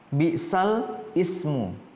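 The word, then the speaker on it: بِئْسَ الِاسْمُ: di sini ada bacaan bisal Ismu bsal Ismu tertulisnya seperti ini ya Nah kemudian dibacanya bisalismu bisalismu seperti itu kenapa ya kita bahas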